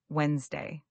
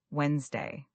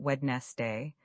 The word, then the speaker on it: Wednesday: You're saying Wednesday, not wedest day. That middle d is silent and the word compresses into two syllables.